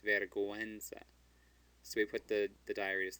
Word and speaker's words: vergüenza: So remember how we had vergüenza? That U comes between a G and a E, and we want to pronounce it. It's not vergüenza, it's vergüenza.